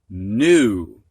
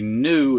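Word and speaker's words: gnu: Previously, the H was silent, but now we've got GN at the beginning of a word, and the G is silent. Gnaw, gnarl, gnat, gnash, new. And a new is kind of like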